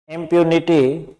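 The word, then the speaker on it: impunity: अब है नेक्स्ट है इम्प्यूनिटी। इम्प्यूनिटी, इसमें ध्यान देना, ये यहां से प्रोनाउंसिएशन स्टार्ट हो रहा है, इम्प्यूनिटी। ये जो तिरछी लाइन है यहां से इम्प्यूनिटी।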